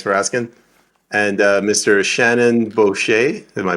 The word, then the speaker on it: Boschy: Shannon Boucher, am I pronouncing it right this time?